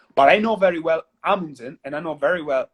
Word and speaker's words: Amundsen: And Amundsen would be Amundsen. Amundsen. Amundsen. I Yeah, like that.